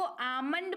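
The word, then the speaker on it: almond: एम है गलत क्योंकि एल के पहले ए है और एल के बाद एम है तो तो आलमंड पढ़ेंगे यानी की बादाम जो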